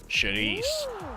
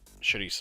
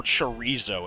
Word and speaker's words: chorizo: I do like Cavacol, but chorizo is what I'm talking about. Or chorizo, if you want to pronounce it wrong.